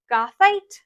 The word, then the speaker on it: goethite: A very, very common inclusion you'll see in amethyst is called gothite.